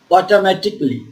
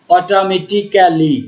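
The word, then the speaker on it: automatically: এটার কি উচ্চারণ হচ্ছে অটোমেটিকলি অটোমেটিকলি আমরা কিন্তু এই এর উচ্চারণটা করবো না এভাবে বলছি না যে অটোমেটিক্যালি Kelly C এল ওয়াই ক্যালিটা আর হবে না ক্যালি হবে না এই এটা যদি আমরা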